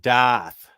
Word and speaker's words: Darth: that's a great thought that doth doth is how they say it up in boston darth vader darth i put a sergio ariana's